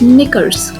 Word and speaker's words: knickers: Next is knickers. So in knickers also K is silent.